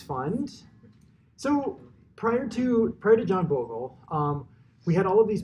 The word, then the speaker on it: Bogle: You might be like, oh, did he create Bogle, the game? But it's pronounced Bogle.